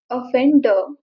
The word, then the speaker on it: offender: And this word is offender. It's OFFENDER. But R is a silent letter. Say offender. It's offender.